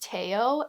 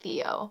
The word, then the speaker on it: Theo: that's how I know that his name is pronounced teao and not Theo so Vincent Ando is a book that I